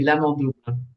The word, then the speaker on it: L'Amant double: Am I pronouncing that l'amant correctly? double. Oui, l'amant double Yeah.